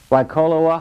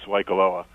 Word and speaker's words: Waikoloa: Aloha, and it's Waikoloa. I just Sorry about the pronunciation. Go ahead, please. I thought I was so impressed. I thought I did it so well. Go ahead. The vowels are like Spanish.